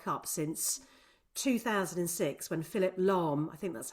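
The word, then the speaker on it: Lahm: And that was the earliest opening goal of any World Cup since 2006 when Philip Lom, I think that's how you pronounce his surname.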